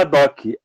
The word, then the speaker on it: ad hoc: Eu acho que é uma gíria em latim, não sei se está certa a pronúncia. É o ADOC.